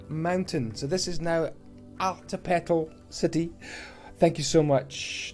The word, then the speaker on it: Altepetl: He said, hey, you should name the city Altepetl, pronounced Altepetl. It's Aztec for water mountain. So this is now Altepetl city.